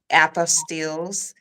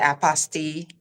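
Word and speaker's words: apostille: fingerprinting and ink fingerprinting and uh apostills some people pronounce it Apostle correct and passport photos to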